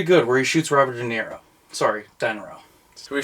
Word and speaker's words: De Niro: It is pronounced De Niro.